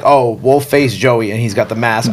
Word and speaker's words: Wolfacejoeyy: Well, and we got to make sure that we pronounce it correctly, right? It's yeah. Wolfacejoeyy. Yes, Wolfacejoeyy. Not Wolfface, not Wolfacejoeyy.